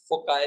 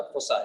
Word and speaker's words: foci: कुछ लोग फोसाई भी कहते हैं, कुछ लोग फोकी भी कहते हैं, फोकाई भी कहते हैं। खैर असल प्रोनाउंसिएशन इसका फोसाई है।